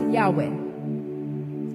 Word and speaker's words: Yahweh: Entonces, este nombre, finalmente, los estudiosos hebreos nos han dado la respuesta de que se pronuncia Yahwe. Ese es el nombre de Dios. Pero mucho más allá de pronunciarse Yahweh, el nombre de Dios